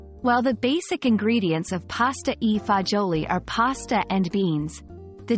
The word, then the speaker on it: pasta e fagioli: for a treat as we explore what makes pasta EA joli so special pasta eoli pronounced as pasta AA jooli is a traditional Italian Dish its name literally